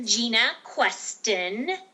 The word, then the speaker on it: Jena Questen: Q can you tell us how do you say your name again it's dr. Gina queston and for those of